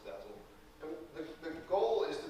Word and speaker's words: DASL: And DASL is sort of an acronym that we pronounce Dazzle.